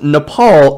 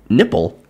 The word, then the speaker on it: Nepal: knowledge is lacking at one meeting Trump allegedly mispronounced Nepal as nipple and Bhutan as button to sources told POLITICO